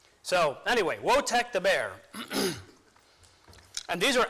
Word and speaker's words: Wojtek: And Wojtek is spelled W-O-J-T-E-K, but the J is silent, so it's Wojtek.